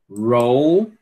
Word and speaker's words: roll: Você tem que pronunciar o L, ok? Do, dol, dol. Roll, roll.